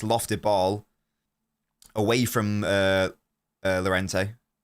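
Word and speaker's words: Llorente: It's a nice lofted ball away from uh Lorente. Is it Lorente or Urente? Is it a double L? In which case, it should be pronounced Y.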